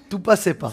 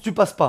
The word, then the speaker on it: Tu Passes Pas: Ça se prononce Tu Passes Pas, hein, mais moi je le prononce à Tout Passait Pas.